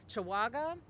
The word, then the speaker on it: Chawaga: Assistant Inspector General Elise Chawaga, C-H-A-W-A-G-A. Did I pronounce that correctly? Yes.